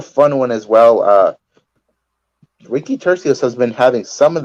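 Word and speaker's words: Turcios: We got Ricky Churasov. Oh man, I'm so bad at pronouncing names. We know that. Ricky, how would you pronounce that, Oscar? Tercios. It's pretty easy. Tercios.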